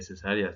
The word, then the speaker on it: cesárea: tenido que ser cesárea que cesárea se escribe así y lleva acento en esta parte se los comento porque